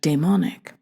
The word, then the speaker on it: daemonic: This term, current in romantic studies of the past 25 years, derives from the Greek daemon, meaning a spirit of lower divinity than the Olympian gods. Hence my pronunciation, daemonic.